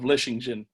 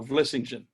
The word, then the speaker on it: Vlissingen: And then it concludes with, we shall remain your humble subjects of the inhabitants of Vlissingen.